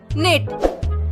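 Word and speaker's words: knit: वैसे बुनना को इंग्लिश में कहा जाता है निट। निट मतलब बुनना। और याद रखिएगा निट में के साइलेंट है।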